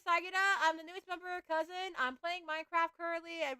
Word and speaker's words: CUZN: yesterday I redbuted it as a member of Cousin, a Pacific V2 group and collective.